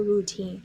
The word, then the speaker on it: routine: noun file have a routine I have for routine and singular form routine PL form routines let's check the pronunciation routine two sound two syllabus we put the St on the second one routine you can look